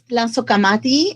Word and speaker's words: Tlazocamati: That word is Tlazocamati, and it is in Nahuatl and is a colloquial